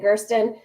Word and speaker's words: Gersten: So my last name, we pronounce it Gersten.